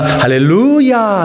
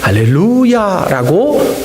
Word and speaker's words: 할렐루야: 그러나 할렐루야 이게 맞다는 겁니다. 가르쳐 주셨던 구약학 선생님이 가르쳐 주셨으니까 사실이겠지요? 할렐루야라고 우리는 발음해야 할 것입니다.